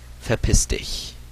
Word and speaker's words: verpiss dich: Like if you're telling someone to fuck off, you say verpiss dich. This is also spelled with a V at the beginning.